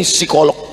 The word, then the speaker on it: psikolog: Ternyata Ibu ini psikolog. Tulisannya psikolog. Bacanya p-nya hilang. Psikolog.